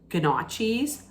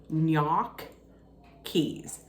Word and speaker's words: gnocchi: people might pronounce it ganachis or gnocchi's that's not correct I was told to always pronounce it gnocchi's so knock keys gnocchi's and if you